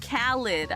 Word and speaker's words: Khaled: did something different oh it's not lead it's lid Khalid ah okay okay khid